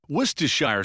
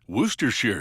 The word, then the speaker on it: Worcestershire: tongue twister worshire sauce werer sauce Weser sauce all those pronunciations are acceptable as are the endless